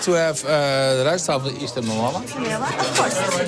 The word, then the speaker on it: Rijsttafel: How do you pronounce it? Rijsttafel. Rijsttafel. Rijsttafel.